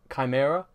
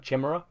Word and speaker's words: chimera: to have that with chimera yeah I used to pronounce that Chmura because I'd only ever read it I still struggle with